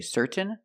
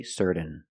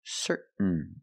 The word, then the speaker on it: certain: n example certain certain you can say certain or certain but don't say certain it's certain what makes you certain